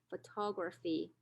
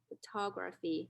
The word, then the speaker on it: photography: has two stressed syllables the second syllable is the prominent stress and the last syllable fee is the secondary stress and so we pronounce it photography photography this is louder and